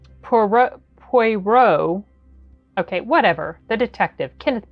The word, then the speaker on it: Poirot: His last name, and he's got this name that looks like Hercules, but it's pronounced differently. Poirot.